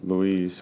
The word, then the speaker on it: Louise: It's My favorite is Louise, or what's it, Lois? How do you pronounce her name? Is that Louise. It's Louise.